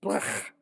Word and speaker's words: Blech: Yeah, that's how it's pronounced. Blech.